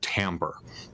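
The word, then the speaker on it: timbre: know about which is the word Tambor and it's it's spelled really weird it's t IM bre that's the sound of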